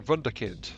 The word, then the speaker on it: wunderkind: Sorry, a wunderkind. That's how you pronounce that.